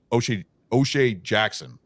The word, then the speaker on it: O'Shea Jackson: Seeing O'Shea Jackson play. I said it right, right? Close. So close. Yeah, you got it right.